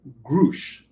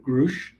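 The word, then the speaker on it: Grusch: this um whistleblower at David grush or grush uh grues I believe he's the German uh pronunciation this was a story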